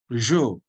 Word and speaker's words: je: Jo, Jo, jo, not Joe. It is jo, Jo.